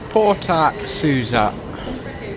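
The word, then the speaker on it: Porta Susa: Porter Soua, as the train just said, so I know how to pronounce it now.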